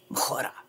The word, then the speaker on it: Majura: But I like my name pronounced in Spanish. Majura.